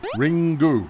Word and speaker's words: Ringu: And then Ringu rhymes with Pingu.